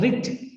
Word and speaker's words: writ: Issues the writ. Pronunciation is writ. Spelling is W-R-I-T-S.